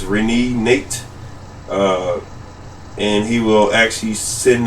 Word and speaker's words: Renenate: Because I think he pronounced his name as Renenate.